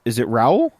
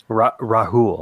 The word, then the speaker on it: Rahul: Is it Raul? Rahul. Rahul. They actually pronounced the H in it. I think Americanized it would have been Raul.